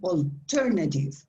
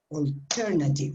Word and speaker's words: alternative: the l yes yeah that apostrophe tells you that the syllable that comes after the apostrophe is the strong one is the way you have to stress the word so you say alternative alternative right do you understand it